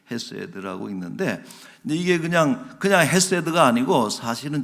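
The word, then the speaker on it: חסד: 헤세드, 이렇게 오른쪽에서부터 이렇게 헤세드라고 읽는데, 근데 이게 그냥 헤세드가 아니고, 사실은 저 발음이 어떻게 읽냐면 헤세드. 같이 한번 읽읍시다. 헤세드. 그냥 H가 아니라, 그러니까 이게 지금 히브리어의 그 발음의 특징이기도 하고, 아마 독일어라든지 그 동유럽 이런 쪽에 많이 남아 있어요.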